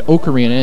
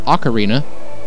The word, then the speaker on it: ocarina: God that was awful if anyone is wondering why I said okarina instead of Ocarina fuck you that's how it's pronounced if it's aliens I'd